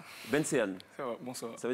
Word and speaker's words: Benseyan: D'accord, et puis Benseyan Kolé, je prononce bien ou pas? Oui, c'est ça. Benseyan.